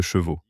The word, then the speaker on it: chevaux: Je n'ai pas de chevaux." C'est une toute petite différence de prononciation entre cheveux et chevaux, mais le résultat est surréaliste.